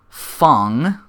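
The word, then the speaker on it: F.A.N.G: We finally get to reveal for Fong, as they pronounce it. It's it's an acronym, so it stands for something. FANG.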